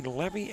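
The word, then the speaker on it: Leavy: And officially checking in is, would it be Levy, L-E-A-V-Y? If it rhymes, you know, like with heavy, it would be Levy.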